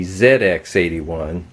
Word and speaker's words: ZX81: called the Sinclair ZX81, or as they pronounce it in the UK, the ZX81.